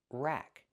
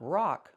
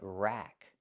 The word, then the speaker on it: rack: Pronunciation rack. Use the short a sound like black cat. Not rock like rock and roll, but rack like black cat.